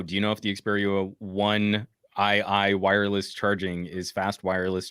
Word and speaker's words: Xperia 1 II: It's pronounced Xperia 1II.